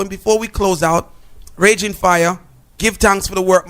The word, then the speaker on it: Raging Fyah: and facebook/ ren fire fire is spelled FY a see so it's Raging Fire don't know for bookings